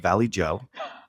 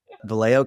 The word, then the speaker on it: Vallejo: She is from a small town in California called Valley Joe. Just kidding. That's not how you say it. Vallejo, California in the Bay Area.